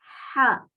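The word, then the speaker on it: حاء: La ja es como una H en inglés, porque nosotros en español la H no la pronunciamos, pero en inglés sí se pronuncia. Entonces es como la H en inglés, pero más fuerte, más grave. Se la tiene que pronunciar desde la base de la garganta.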